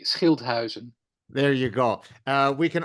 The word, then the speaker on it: Schilthuizen: Let me pronounce the name properly, Schilthuizen, but please pronounce it the Dutch way. It was almost perfect. It's the Dutch way would be Schilthuizen.